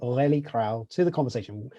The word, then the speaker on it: Aurelie Krau: happy to introduce a friend of mine actually orelli crowl hi matt very nice pronunciation of my name i i had to